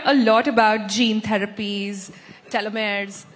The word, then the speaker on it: telomeres: We hear a lot about gene therapies, telomeres, telomeres, that's how you say it.